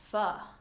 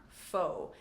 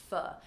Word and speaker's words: pho: there, I learned that this word is pho, not pho, but pho. Pho is a very popular noodle soup that is traditional in Vietnam.